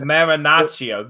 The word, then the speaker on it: Marinaccio: Marinaccio. Get it right. You were the Yankee hat. Say it right.